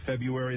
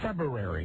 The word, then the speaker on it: February: i've been saying february that's not correct february you have to steal you actually have to put the r in there the first choice by the dictionary the first choice for pronunciation is february their second place also also acceptable february like drinking a brew february i thought that